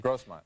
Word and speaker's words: Grossmont: You studied drama at Grossmont College. I'm pronouncing it correctly. Grossmont, yeah.